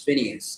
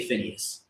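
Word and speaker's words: Phinehas: So, uh I believe the person name is Phineas is how you how you would pronounce that today. You know what I mean? Because I keep looking at that word. It looks like Phineas. I want to say that is how you say it.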